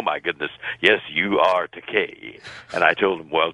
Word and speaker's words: Takei: of my name because there is a legitimate Japanese word that's pronounced Takai, and it translates into English as expensive. But my name is pronounced Takei, and no producer likes to call an actor expensive.